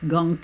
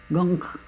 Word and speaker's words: gonk: You know, and it looks like it's spelled gonk, G-O-N-K, but it's pronounced gunk, like junk, gunk, or gunk.